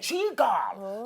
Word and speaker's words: Chigirl: Chigirl. You see, the pronunciation has to go down. Okay, Chigirl. It's like seagull. Hey, Chigirl.